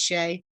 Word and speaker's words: Shea: it took me forever to realize that his name is simply pronounced Shay.